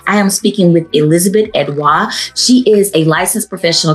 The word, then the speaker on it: Edouard: Without further ado, please welcome to the SelfWare and Nift podcast, Elizabeth Edois. Hey Liz, how you doing today? Hi. I love that you pronounced my last name correctly.